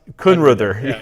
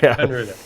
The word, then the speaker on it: Kunreuther: How do you pronounce it? Kunruther. Kunruther.